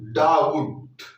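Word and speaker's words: doubt: Next डब, यानी देखो बी के बाद आया है टी, बी के बाद आया है टी, तो बी का कोई उच्चारण हम नहीं करेंगे, बी का कोई उच्चारण नहीं करेंगे। DOU, डाउट।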